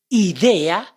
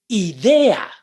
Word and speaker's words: idea: If you said idea, then you did it right. I-E-A. Idea. See? It's not idea. I is the E in English. I-E-A is the pronunciation of the vowels in Spanish.